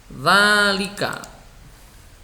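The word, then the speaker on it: ذٰلِكَ: Dzalika. Nulisnya seperti ini. Huruf dzal ya, berharokat fathah, terus ditambahi alif kecil yang menunjukkan tanda panjang. Jadi alif kecil itu menunjukkan tanda panjang. Dibacanya dzalika begitu. Kemudian Alkitabu juga begitu.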